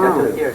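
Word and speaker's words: Château-Thierry: I was in, of all places, Chateau Thierry. Is that how you pronounce it? Chateau, Yeah, wow. Chateau Thierry.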